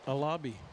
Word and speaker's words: Alabi: That's how you say it, Alabi. I looked it up.